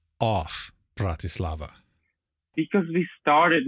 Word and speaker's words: Bratislava: pronouncing Bratislava correctly yeah Bratislava Bratislava but it's the okay BR laava it's like Brad you know like if someone's behaving like a brad okay fair enough now